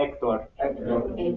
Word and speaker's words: Héctor: Geraldo, H es, bueno, la H se pronuncia en silencio, o sea, es Héctor, clase repita Héctor. Héctor. La H es, it's silent, silente, ¿sí? Héctor.